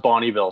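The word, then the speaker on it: Bonnyville: Also, it's pronounced Bonneville, so I'm just going to correct you now. Oh my gosh, I am so embarrassed. The disrespect. Yes, I should have known that. Okay, so Bonneville, Alberta.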